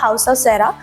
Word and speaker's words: House of Caera: We change the name and नाउ we pronounce the हाउस ऑफ सेरा and we go proper strategy, brand strategy.